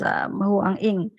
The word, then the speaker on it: Huang Ying: Ternyata it should be pronounced as Huang Ying without the Y sound.